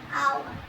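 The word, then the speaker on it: hour: है यही वाली कि यहां पर एच को हटा दो। हम पढ़ते हैं आवर है। ओ यू आर को हम आवर पढ़ते हैं। बट आवर एच लिखा जाता है तो हां थोड़ी वैल्यू रख ली जाती है कि आवर पढ़ा जाता है तो खींच के पढ़ लेते हैं।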